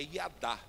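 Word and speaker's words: יָדַע: Iada. Eh, iada é a palavra hebraica correspondente ao catalambano. Na verdade, o jeito certo de falar é iadá, mas aí eu já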